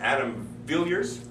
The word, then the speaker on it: Adam Villiers: in this is Spirit FM and I have Adam Villers that's how you pronounce it that's correct yes all right awesome